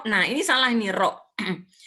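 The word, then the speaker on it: ر: Ro, nah ini salah ini ro. Ini di sini tulisnya ra, ya. Ro, bacanya tuh ro.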